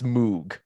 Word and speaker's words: Moog: I was going first of all it is pronounced Moog I don't I don't mean to be that